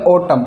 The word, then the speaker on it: autumn: यानी एम के बाद अगर एन आता है तो एन हमेशा साइलेंट रहेगा। जैसे ओटम, AUTUMN। अब इसको ओटम बन नहीं पढ़ेंगे, हम इसको पढ़ेंगे ओटम।